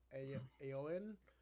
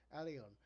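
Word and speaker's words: Alioune: I know I'm saying his name wrong. um, Oh. Oh man. I. it says Alioun. Alion, yes, Alion.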